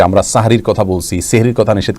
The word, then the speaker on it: সাহরি: রোজার জায়গায় সম বলা, এগুলোর মধ্যে শুদ্ধ অশুদ্ধের ব্যাপার নাই, কিন্তু সাহরির জায়গায় সেহরি বলা, এখানে ভুল এবং শুদ্ধের ব্যাপার আছে।